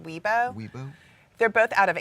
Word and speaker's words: Weibo: pronounced Weibo.